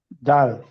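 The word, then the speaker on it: ذ: তাহলে জাল হচ্ছে জিব্বার আগা সামনের উপরে দুই দাঁতের আগার সাথে লাগবে, তিন আলিফ টেনে পড়তে হবে।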